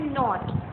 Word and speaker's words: knot: Example इन्होंने यहाँ पे दी है KNOT. इसको बोलते हैं नॉट. K साइलेंट है, K को नहीं पढ़ते.